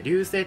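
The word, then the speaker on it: 流星: 流れ星と書いて流星と読むんですけ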